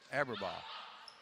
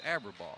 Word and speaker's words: Aberbaugh: Aberbaugh. I got the correct pronunciation. It's Aberbaugh.